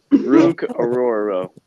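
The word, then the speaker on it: Orhorhoro: Rook Aroro.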